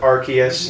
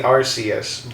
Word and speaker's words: Arceus: Yeah, they go with Arceus now. It was originally Arceus, but that's how I remember it. In Britain, they say arse. That means ass.